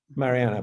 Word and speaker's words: Mariana: Is that how I pronounce it, Mariana?